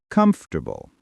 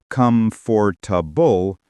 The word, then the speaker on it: comfortable: Comfortable. Many say comfortable, but the correct sound is comfortable. English often drops sounds when spoken naturally.